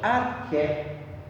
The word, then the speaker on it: arché: o nome geral de arqué. arqué, arqué. Guardem aí, arqué, tá? Se escreve assim, arché, mas é arqué, tá?